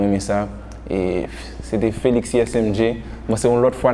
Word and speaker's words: ESMG: ISMG c'est ESMG. On prononce ISMG.